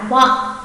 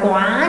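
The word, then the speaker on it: は: chủ vị, cho nên sẽ đọc là wa, wa. Không đọc là quá nhá, không phải là đánh dấu sắc hẳn cho nó, mà đọc hơi hơi bật lên một chút thôi.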